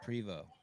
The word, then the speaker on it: Prevost: your last name is Prevost. Yep, it's a silent ST. It's French.